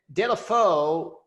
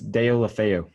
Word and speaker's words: Deulofeu: And then Delafeu, am I pronouncing that correctly, Riley? I believe it's Deulofeu. Close.